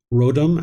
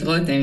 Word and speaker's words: Rotem: Looks like Rodam has a question. Sorry if I mispronounced your name. No, it's great. Rotem, yes, thank you.